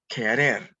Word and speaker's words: querer: very important verb that q u is pronounced like a hard C or k querer you should know that